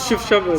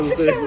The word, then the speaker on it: Chefchaouen: Oui, oui, la prononciation c'est correct. Chefchaouen, Chefchaouen.